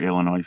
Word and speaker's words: Illinois: go to Chicago or Illinois for that matter you know you don't pronounce the s in Illinois this is true I